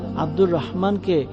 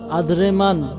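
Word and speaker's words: عبد الرحمن: দামাত বারাকাতুহুল্লাহ আলিয়া বলেন আব্দুর রহমানকে আমাদের মেমোনি সম্প্রদায়ের কিছু লোক মাজাল্লাহ আদরেমান বলে থাকে এমনটি করা উচিত নয় বরং যে নামই হোক তা সঠিকভাবে উচ্চারণ করা উচিত আব্দুর রহমান নামটি তো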